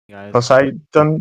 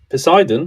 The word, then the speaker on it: Poseidon: measured yes do you know who measured it posidon yes posidon yeah I know how to pronounce the name who Poseidon Earth is not flat and I'll tell you